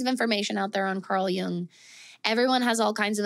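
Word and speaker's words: Jung: some research go online Google Shadow work and Carl Yung or the Shadow and Carl Yung or Shadow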